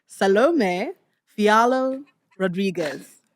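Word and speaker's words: Salomé Fialho Rodrigues: Salom Fialo Rodriguez.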